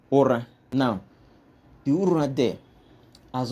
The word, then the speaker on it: Ura: Now, it turns out that the Ura there is actually pronounced Ur.